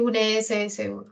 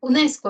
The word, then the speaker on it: UNESCO: la unso es un no es productivo decir unss no está bien UNESCO Decimos lo decimos sílaba por sílaba UNESCO ya entonces cuando decimos